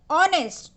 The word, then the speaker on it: honest: The words our and honest begin with the letter H, but the H is silent.